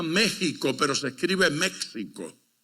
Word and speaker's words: México: México es un país que se pronuncia México, pero se escribe México, porque la X y la J es la misma letra.